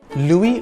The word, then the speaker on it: Louis: Louis Vuitton is one of the world's leading fashion houses. The S is silent in the first name Louis.